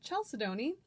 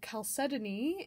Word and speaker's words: chalcedony: forever and ever for years and years i pronounced it chalcedony and only recently found out that that's absolutely incorrect um so chalcedony is the proper pronunciation and i will try